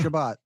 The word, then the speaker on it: Shabbat: Shabbat. Thank you. And I mispronounced it.